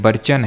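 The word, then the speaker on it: barchan: वहां sand dune बनाएगी जैसे कि ये बर्चन है ठीक है या फिर बर्कन जो भी है इसका आप इसको प्रोनाउंस करें तो ये बर्चन है इस तरह से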